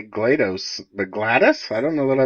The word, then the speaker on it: GLaDOS: Hadees say glad glad how do you say that character's name you mean GLaDOS damn it I guess I'm the weird one I say GLaDOS I just say Gladys Gladys Glen yeah GLaDOS